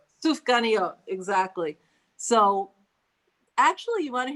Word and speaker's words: Sufganiyot: How do you pronounce it? Sufganiyot. Sufganiyot, exactly.